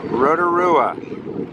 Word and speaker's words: Rotorua: the scene at Lake Rotorua which is sort of pronounced like roto-rooter